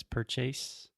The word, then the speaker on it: purchase: intermediate intermediate yes so a mistake that Alexia commits quite often and almost all my students is words that end in ate or ASE many many times we do not pronounce them as eight or Ace for example Alexia always says purchase purchase purchase intermediate intermediate adequate adequate delicate delicate there we go awesome and